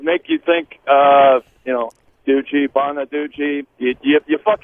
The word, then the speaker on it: Gucci: name goochy goochy yeah you wouldn't say goosey or gooshie it's Gucci right would say Gucci so knowing that now